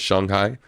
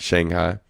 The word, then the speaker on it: Shanghai: Um also learned that I was saying it wrong the whole time. It's Shanghai. Um not Shanghai, but um yeah, man.